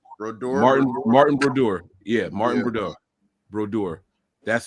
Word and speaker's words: Brodeur: It was Brodeur. I said it wrong. Martin Brodeur.